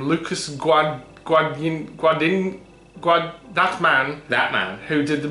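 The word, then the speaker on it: Luca Guadagnino: Remake by, how the hell do you pronounce his name? Lucas Guadagnino.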